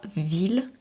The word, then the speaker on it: ville: Pourquoi ville ne se prononce pas comme fille? L'influence de l'étymologie. La prononciation de certains mots est liée à leur origine. Par exemple, ville vient du latin villa, où le 2L se prononçait déjà comme IL.